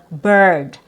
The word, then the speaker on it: bird: So, this one, it has a letter I in the spelling and it's pronounced as burr.